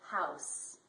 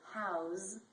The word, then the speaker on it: house: other words for example house as a noun it is an s and as a verb house is z was design these are